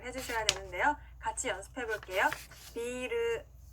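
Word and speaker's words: ビール: 중간에 장음이 들어가는데요. 장음이 없이 비루라고 하면요 빌딩이라는 뜻의 단어가 됩니다. 그렇기 때문에 꼭 맥주를 얘기할 때는 중간에 장음으로 길게 늘려서 발음을 해주셔야 되는데요. 같이 연습해 볼게요. 비르, 비르.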